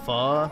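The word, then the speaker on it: Phở: FO is pronounced fu.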